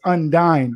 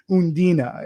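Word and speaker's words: Undine: e so it's it's i i was originally pronouncing it as undyne but it's undina and it's a german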